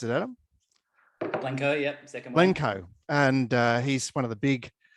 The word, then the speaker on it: Blencowe: How do you pronounce it, Adam? Blencowe, yep, second one.